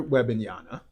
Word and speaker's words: Wembanyama: Victor Wembanyama. Got it. Wembanyama.